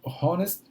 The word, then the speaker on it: honest: quando você tem our honest eh você usa também a n porque eles têm o h mudo a palavra começa com H mudo então a sonoridade da